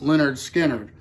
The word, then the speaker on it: Lynyrd Skynyrd: 47 I've got the debut from Leonard Skynyrd pronounced Leonard Skinner and this is one of my favorite debut